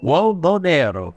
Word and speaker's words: Uomo Nero: But first, Tag Uomo Uomo Nero. That's how we pronounce this.